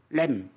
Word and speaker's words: lamb: 램. L자 발음이거든요.